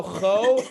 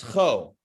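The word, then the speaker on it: כה: When the letter ends with the hey, when the word ends with hey, you don't have to go all breathy on it, like cho. You don't have to do that. You don't have to get all out of breath for that one. So bo, you can go cho, and no one's gonna pull you over for skimping on the hey. It's not an arrestable offense. On the contrary, it's how you do it.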